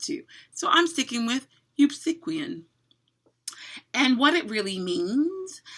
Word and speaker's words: Eupsychian: week, I will say I pronounce it one way, and apparently there are lots of other pronunciations. I prefer Eupsychian. That's right, say that 5 times fast. Eupsychian. But most of you apparently like to say Eupsychian. Not my favorite pronunciation.